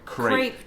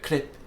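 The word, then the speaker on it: crêpe: Crepe doesn't trigger me. I know. I'm like, it's incorrect, isn't it? I think it is incorrect. French people don't go crepe, they go clip.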